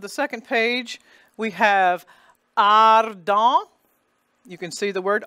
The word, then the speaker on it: ardent: And it's the bright ah because there is no S following it. It's the usual, and the R is pronounced D-E-N-T. The T is silent, and the E-N is the nasal vowel. So that's why we get the nasal vowel there.